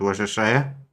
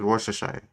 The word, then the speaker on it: Worcestershire: Because it's not Worcestershire? But by Sean Connery expression, I would have probably pronounced it like Worcestershire sauce. No, because it's Worcestershire. Yeah, it's like they cut like 45 letters out of it.